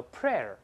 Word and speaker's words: prayer: 这个祈祷的内容叫 prayer，注意发音变了啊，